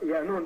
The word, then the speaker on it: Yaanan: They say Yaanan, it's pronounced Yaanan, depending on the dialect of what galaxy you're in, the pronunciation changes.